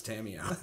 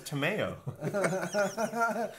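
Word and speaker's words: Tamiyo: hearing you pronounce Tamio. No, it's Tameo. It's My like a favorite- combination of tomato and mayonnaise.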